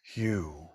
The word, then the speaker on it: Hu: It's written it's written hu. It's pronounced hu.